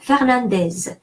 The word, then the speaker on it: Fernandez: Louis Fernandez. Well, that's it's Spanish name, and so I'm going to say it like in Spanish. I'm going to say the final Z.